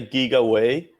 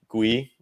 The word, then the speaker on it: Gwei: It's going to be 30 GWEI. Is that how you say it actually? Some people say GigaWei, because Wei is like the original, and it's 1,000 Wei. I just say Gwei, or Gui.